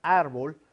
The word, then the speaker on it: árbol: Palabras graves en la penúltima sílaba, como el ejemplo de la palabra árbol, ¿no? Que lo lleva en la sílaba ar.